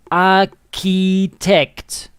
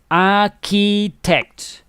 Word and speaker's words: architect: of the world pronunciation the pronunciation of this is a ki text i spelled it correctly yeah ah key text and mike it looks